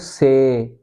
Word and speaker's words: says: When it is without an s we say say and this is not say say. Okay this is a diff thong. This is a diff thong. So first you pronounce e okay and then you pronounce i. So you say say and when you put an s after this say. So what you do is you change this sound okay to only e sound and you you pronounce this as zed.